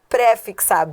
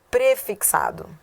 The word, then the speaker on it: prefixado: E a 19, que muita gente erra também, não é préfixado, é prefixado.